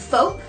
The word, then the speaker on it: Foap: And there's also one called, I don't know if I'm pronouncing this right, FOAP. It's spelled F-O-A-P, like soap but with an F, and that is like basically the same thing.